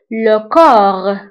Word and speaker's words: le corps: والآن ننتقلوا للجسم، فالجسم هو le corps، le corps. فبالنسبة لكور نكتبها ب PS في آخر الكلمة، ولكن لا ننطقها، نقول لكور.